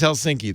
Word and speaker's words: Helsinki: make people cuckoo helsinki's helsinki though am i right on that that's right yeah yeah the only the slight difference is you um you're supposed to emphasize the first syllable so helsinki helsinki all right helsinki i'll